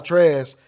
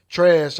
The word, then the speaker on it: Trask: Well, after that impressive performance by Kyle Trask, the person that got hurt, the quarterback before Trash, Felipe Franks, if you know who that is.